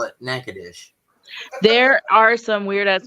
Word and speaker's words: Natchitoches: And if you were in Louisiana, the town name is spelled exactly the same, but they call it Natchitoches.